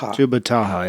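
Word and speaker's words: Tubbataha: Tupataha. Tubataha, yeah.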